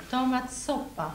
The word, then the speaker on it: tomatsoppa: Nu sätter vi ihop de här till ett nytt substantiv. Vad händer? Tomat, soppa. Ner på första, tonaccent.